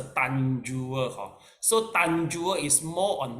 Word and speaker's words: Tanjur: Then there's one more is a Tanjur. the pronounce is the Tanjua.